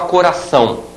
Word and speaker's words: coração: eu tenho a palavra coração coração três sílabas coração ó tô circundando ali você tá observando não é então ó coração a última sílaba é mais forte do que as outras eu digo que esta